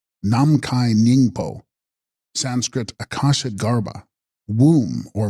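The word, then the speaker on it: Namkhai Nyingpo: Text: Nam Mikani Snyingpo, pronounced Namkai Nyingpo, Sanskrit Akasha Garbha, womb or matrix of the sky.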